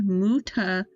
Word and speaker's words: Mutazione: Italian for mutation / change is pronounced Mutazione. With the emphasis on the TSI syllable, like the T in cats and the E in C, and the final E sounding like ek. Oh, similar to the end of attention.